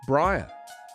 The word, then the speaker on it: Breyer: breyer you know because it's spelt breyer b-r-e-y-e-r but it's pronounced briar o'charlie's therin everyone